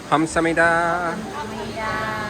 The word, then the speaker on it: 감사합니다: 감사합니다.